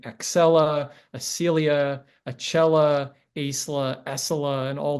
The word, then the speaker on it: Acela: Acela languished in testing.